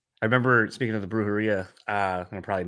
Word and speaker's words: Brujeria: R's or do anything the correct way to say is yeah the J is like H all right there's my